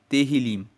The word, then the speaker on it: Tehillim: Nós sabemos que salmos, no texto original, no texto hebraico, é chamado de Tehillim. E Tehillim se significa louvores. Se escreve T-E-H-I-L-I-M, Tehillim. Significa louvores.